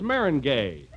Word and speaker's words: meringue: You know, I'm famous for my lemon meringue. Meringue? Why, that's Marengay. Oh, is that the way it's pronounced?